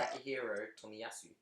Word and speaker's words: Takahiro Tomiyasu: Make sure you pronounce it right. Takahiro Tomiyasu.